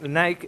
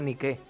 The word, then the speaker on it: Nike: Es que Nike está mal dicho, porque realmente Nike hace referencia a una diosa griega que se llama Nike, con acento en la E, Nike. O sea que se debería decir Nike y lo correcto sería Nike.